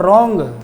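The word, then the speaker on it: wrong: है और 40 पर रोंग रोंग में भी डब्लू का उच्चारण नहीं है रोमर ने गलत जी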